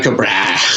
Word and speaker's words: Tycho Brahe: Tycho Brahe. Tycho Brahe. I don't even know if I say it right. I know you are saying it right. Is that right? Yeah. It's like Tycho Brahe.